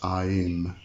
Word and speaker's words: Aim: am sometimes a-y-m um I actually sometimes like to pronounce this I am um she kind of